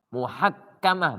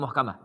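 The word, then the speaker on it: محكمة: yang kelima aladah muhakamah muhakamah bacanya bukan muhkamah J adat kebiasaan itu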